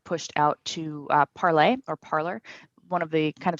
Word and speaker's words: Parler: So that was a big difference, is that you have the Gab vote, Parler, Parlay. We're still arguing over whether people on an alt-right site would use the French pronunciation.